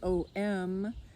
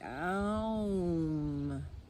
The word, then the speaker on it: Aum: familiar with Oming that the traditional way of thinking of Om is O-M, sounded like Om, rhyming with home sweet Om, but it really is different in Sanskrit, which is where the syllable Om originates from the Upanishads. And it is phonetically spelled in English A-U-M, and it's pronounced Ah-oum. Very different than Om.